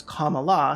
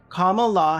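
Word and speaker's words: Kamala: everyone that wasn't aware it's comma law say it with me okay comma law Harris is funding a genocide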